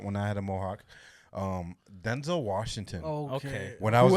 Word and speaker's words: Denzel: It's not Denzel. It's Denzel. Yeah.